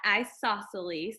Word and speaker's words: isosceles: look at is isosceles we say it like that isosceles and then isosceles triangle